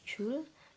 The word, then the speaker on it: Joule: satuannya Va satuannya Jul bacanya Jul tulisannya Joule simbolnya apa Ji besar atau